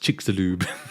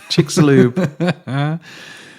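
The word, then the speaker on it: Chicxulub: spelt c-h-i-c-x-u-l-u-b so the internet told me that's pronounced chicks-a-lube chick's loop you're right shirley oh i don't know i'm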